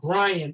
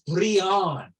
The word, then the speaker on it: Brianne: don't want to okay it's not Brian it's Brianne okay you know how